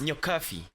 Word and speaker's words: Nyokabi: So Nyokabi at 10 is Nyokabi. Yes. Nyokabi. Yes. Okay. So you pronounce it as an F, but it's written as a B.